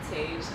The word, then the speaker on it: Tasia: Tasia. Oh, I'm saying it wrong. Like Asia, but with the T in front. Okay.